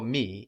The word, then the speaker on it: me: It's written me just like in English, so how should that sound in French? Me. Very good. With a weak like in je, like in le, me.